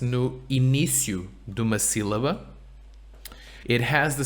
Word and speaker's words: sílaba: When the S is at the end of a syllable, S no fim de uma sílaba é sh. Es Right. fim de uma sílaba. There's an accent here. Sílaba. Sílaba. Muito bem.